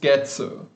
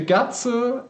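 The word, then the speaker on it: 月: And the gatsu is a third kind of pronunciation called kanyon, which literally means customary pronunciation. And that's a nice way of saying wrong pronunciation, essentially. So at some point, probably people confused the gachi and the getsu and mixed them up, and as a result, started pronouncing a few words with gatsu.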